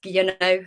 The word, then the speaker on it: Guillonneau: mentioned my name is gono I saw that you didn't dare with the last one um that's how you pronounce it I'm the only one